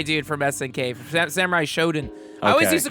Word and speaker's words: Shodown: I don't think it's Shodown. Well, it's not Showdown like SHOW. It's show. I think it's Samurai Shodown. I don't know. What are you talking about? Samurai Showdown. Look how Showdown is spelled. SHODOWN.